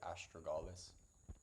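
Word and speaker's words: Astragalus: 30 gram or 5 tablespoons of argalus root. Some people pronounce it astrogalus.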